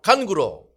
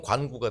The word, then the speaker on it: 간구: 염려하지 말고 오직 모든 일에 기도와 간구로 오늘 오늘 이스라엘 찬양대 찬양 제목이 뭐라고? 간구. 발음 잘못하면 관구가 돼. 관구도 금방 올 거야.